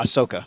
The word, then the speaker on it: Ahsoka: uh is it uh Ahsoka how do you pronounce her name uh yeah Ahsoka Ahsoka okay uh you see her talk telling